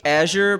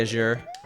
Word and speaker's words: Azure: Yeah, so I say Azure, but I know a lot of people that say Azure. I don't know, like, there is definitely a correct pronunciation. I think it is Azure, but I say what I say, and I'm not the only one at my company that says it.